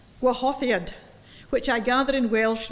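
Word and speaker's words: Gwahoddiad: In English, it's "I Hear Thy Welcome Voice," but my Welsh friend has told me it's pronounced Gwahothad, Gwahothiad, which I gather in Welsh means welcome.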